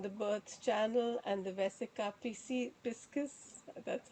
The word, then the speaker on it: vesica piscis: And the birth channel and the vesica piscis, that's how you pronounce it, and the fish and the eye